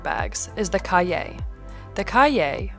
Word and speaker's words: Cahier: is the cay the Caye pronounced like Kanye without the N is the French word for Notebook and it's easy to